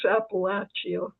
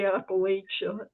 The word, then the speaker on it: Appalachia: And I appreciate that so much and I also love the the fact that you pronounce Appalachia correctly. I'm very, you know, because people say Appalachia and they do.